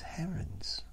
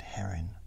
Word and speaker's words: heron: go against herons red her in with Heron but that's a thing it's spelled h e r o n that's a heron not herin herin would be h e h e r i n surely anyway apparently they